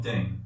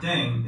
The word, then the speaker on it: ddaeng: playing with language now the pronunciation of deng is similar to thang which is a sign of thing in english last but not least